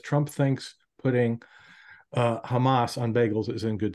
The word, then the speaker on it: Hamas: Trump thinks putting uh Hamas on Bagels is in good taste he he pronounced it hummus twice in the and and